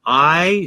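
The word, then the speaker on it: Aai: His name is Ronald I, spelled A-A-I like you see in the screen, but pronounced like the letter I or like the I behind my glasses.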